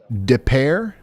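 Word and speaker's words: Des Peres: Is this Des Perez? Help me. I need to record that one. Deare. How do you say it? Depair.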